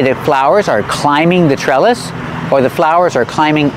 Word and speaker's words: trellis: this is a trellis the TR and trellis is pronounced like a CH like chicken plus the r sure trellis this is a trellis the second syllable is pronounced it's not stressed so together trellis this is a trellis and